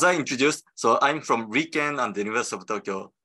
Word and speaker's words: RIKEN: So this is pronounced as Riken.